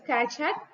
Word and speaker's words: Keccak: kak kak that is we have to pronounce like this Kat created by guo Boni